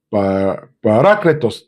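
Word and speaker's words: παράκλητος: Parácletos, de hecho es porque lleva acento en la A, parácletos.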